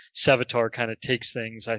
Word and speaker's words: Sevatar: I really like Segitar, if I'm saying it right. The Prince of Crows, essentially Conrad Curse's second in command kind of guy. That guy, yeah. Yeah, Sevatar. Yeah, Awesome. Sevatar, sorry.